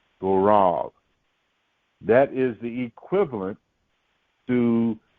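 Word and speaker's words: גורל: is the word and for lot it is pronounced go wrong go wrong go wrong that is the equivalent to the Babylonian borrowed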